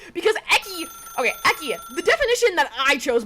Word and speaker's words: Ecci: Anyway, the other day, we raided Rainbow, and the way she pronounced my name was Ecci, because she said it as a Italian pronunciation, which is technically true because Ecci. Okay, Ecci.